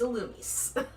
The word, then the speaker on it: Illumise: Because they're trying to say that it's supposed to be pronounced Illumise. Mm-hmm. No, it is Illumise.